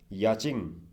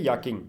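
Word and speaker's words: yachting: याचिंग। Okay, या फिर याकिंग, याक भी कह सकते हैं हम, याकिंग भी कह सकते हैं इसको, और इसके प्रोनाउंसेस अलग अलग होते हैं। याकिंग भी कह सकते हैं, याचिंग भी कह सकते हैं बच्चों, लेकिन नॉर्मली इसे याकिंग ही कहा जाता है।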